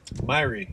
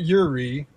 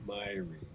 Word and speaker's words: Myrie: Myrie. Don't, that's not a real name. It's not Yuri. It's not his re. It's Myrie.